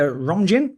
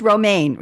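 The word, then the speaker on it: Romijn: So, Rebecca, Rebecca Romjin, no, it's Roma. She goes by Roma.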